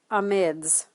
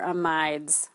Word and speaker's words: amide: Last ones, we have amides or amides. I don't care how you say it, either way.